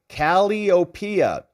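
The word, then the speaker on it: Calliope: entities BH Williams says Rob caliopia The Muse of poetry is pronounced caliopia C Cal kopia in the house good to know the Muse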